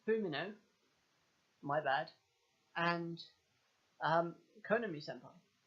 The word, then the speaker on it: Fumino: We had some spectacular panels throughout this chapter that really highlighted the features of Yuiga Fushimio. I said the name wrong. It's Fumino, my bad, and Konami Senpai.